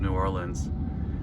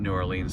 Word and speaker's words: New Orleans: hitting the outskirts of New Orleans I was corrected last night at how I pronounced I said New Orleans it's not New Orleans to locals it's New Orleans and I'm only about